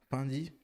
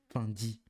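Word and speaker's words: Fendi: elles sont vraies par qu'elle a pas dit fendy elle a dit fini il faut le faire pour dire fi parce que ça s'écrit avec C f e n d I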